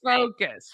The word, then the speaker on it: FOCUS: We just pronounced the acronym FOCUS, but yes. Yes, that's FOCUS.